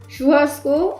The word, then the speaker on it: churrasco: Churrasco, a popular Brazilian barbecue often featuring different cuts of meat.